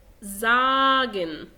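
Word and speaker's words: sagen: طيب خلينا ندخل على القاعدة التانية، وهو بيقولك إذا جاء حرف الإس بعده حرف متحرك ينطق ز. ز. غير كده دايما بينطق سين عادي. طيب الحروف المتحركة أنا كتبت بعض منهم طبعا زائد الأملاط واللي احنا كنا لسه شايفينهم فوق. بينطق ز. زين أو ز، الزد بالإنجلش، زي زين. زين. زاجن. زاجن. اخد بالي بس ان انا بقرا الحرف اللي بعده زاجن، لكن هنا زين.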